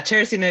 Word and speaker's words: Terina: yep yes okay yeah Terina is right you got it I'm sorry Michelle did